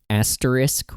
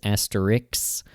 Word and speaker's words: asterisk: So asterisk, Ray pronounces asterix. Asking, Ray pronounces as axing. And cinnamon, Ray pronounces as cinnamum.